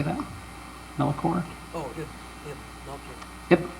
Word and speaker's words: Melchior: Melchior? Oh, yeah. Yep, Melchior.